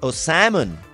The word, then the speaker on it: salmon: O salmon. Cuando decimos salmón, se escribe salmón, pero se dice salmon.